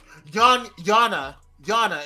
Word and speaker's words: Yana: Yana is how you pronounce her name.